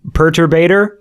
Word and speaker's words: Perturbator: saying it I mean I think I say perturbator yeah say it like that but like it's